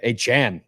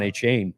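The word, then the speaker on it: Achane: have uh a I think I think he pronounced his name aan now yeah aan I think that's that's how he said he pronounced his name I've always called him Devon a chain a oh wow yeah I gotta go delete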